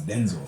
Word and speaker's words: Denzel: It's not Denzel. It's Denzel.